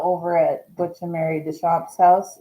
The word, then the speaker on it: Deschampe: And are now over at Butch and Mary Deschampe's house. Is it Deschampe or Deschampe or Deschampe. Deschampe? Deschampe. Okay. The regular way.